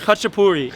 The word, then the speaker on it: khachapuri: New York I'm actually really excited so he's pronounced kuchupudi it's a Georgian cuisine the country not state